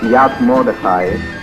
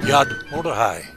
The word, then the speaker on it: Yad Mordechai: This one is just south of Ashkelon, and it's called, Carol, just how do you pronounce this? This is Yad Mordechai. Yad Mordechai.